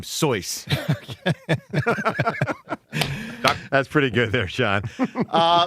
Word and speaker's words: Seuss: And also, Dr. Seuss pronounced his name Soyce.